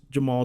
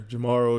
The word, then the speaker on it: Jemarl: spelling of your name it is Jamal yes um as a Jeff with a G that gets mispronounced all the time I understand sometimes that people don't want it to be just the the most common pronunciation but it is just Jamal do you get a